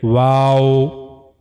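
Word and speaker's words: و: means you have to circling your two lips but the lips shouldn't meet to each other like wow. You have to circling the two lips without meeting completely. The lips should not meet to each other but you have to make them circling.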